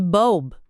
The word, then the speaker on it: bulb: E bulb, presta atenção no som do L antes do B. Ele aparece.